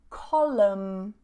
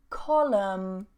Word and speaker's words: column: Silent N. So we have autumn, autumn, dam, dam, column, column, and hymn, hymn.